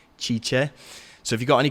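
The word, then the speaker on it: Cice: Her name is spelled C-I-C-E, Chicha.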